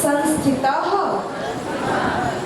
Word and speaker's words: संस्थितः: एकांत एका तत्व तत्व संस्थितः संस्थित देखिए संस्थितः संस्थितः संस्थित हमारे संस्कृत हम क्या लेते हैं? विसर्ग का उच्चारण भी लेते हैं। तो त के बाद क्या है? विसर्ग है। इसलिए संस्थितः आभवत आवत चित्त विक्षेप